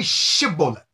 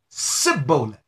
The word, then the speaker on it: Shibboleth: look at this now they could not say Shibboleth instead they said Sybil believe it or not